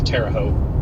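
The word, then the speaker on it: Terre Haute: Terra Terraout. That's how you say it. Yeah, Freddy. This cell is going straight for Terraout. only because it's driving the inter Midwestern and crazy in me. It's terote by the way.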